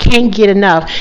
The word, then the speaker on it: Kane Get Enough: exactly i like that i think it's pretty can't get enough and again it's spelled k-a-n-e g-e-t-e-n-o-u-g-h yeah i like it i